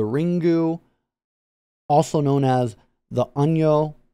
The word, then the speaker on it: Onryo: also known as the onyo which is the japanese pronunciation of it probably going to be heard the anrio uh as well that's